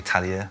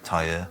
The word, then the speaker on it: Talia: pronunciation of the name, it's actually Talia rather than tier. Oh, is it? You had the eye in the wrong place in your mind.